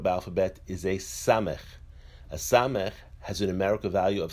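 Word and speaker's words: ס: A samech has a numerical value of 60. The samech is pronounced as a s.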